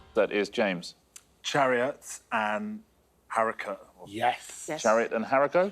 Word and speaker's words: haricot: tinned baked beans that is james chariots and harika yes yes jared and jericho correct how you pronounce the rhett i think you do either